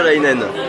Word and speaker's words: Istolaïnen: Istolainen. Istolainen. Voilà, comme avec un tréma sur le i.